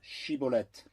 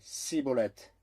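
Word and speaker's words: Shibboleth: Alors il lui disait, dis maintenant Shiboleth. Et il disait Siboleth, car il ne pouvait pas bien le prononcer.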